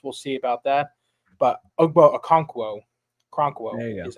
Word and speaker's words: Okonkwo: But Okonkwo is how you say that.